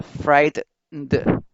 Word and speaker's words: frightened: Entonces ya la mayor fuerza de voz está en fright, entonces fright se pronuncia como con mayor fuerza, sería frightened.